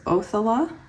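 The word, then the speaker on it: Othala: thankful for because I have a fear of mispronouncing words so it's othella meaning property Inherited property possession so we did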